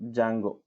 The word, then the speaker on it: Django: Django. D is silent. Okay, so Django.